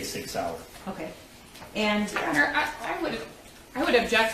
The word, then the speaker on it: Sauer: So when he mentions the Sig Sauer, he mispronounced Sauer as Sawyer, which if you purchased that firearm and it was for yourself, you'd be familiar with how to say Sig Sauer.